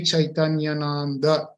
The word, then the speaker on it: Chaitanyananda: Swami Chaitanyananda. It is always, because it ends with A and it starts with A, it becomes a long one, and we have to pronounce it correctly.